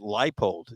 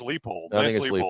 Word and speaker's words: Leipold: if he gets paid I keep hearing it pronounced leipold yeah you know which one is which I think it's leepold that's what I've always heard who called him light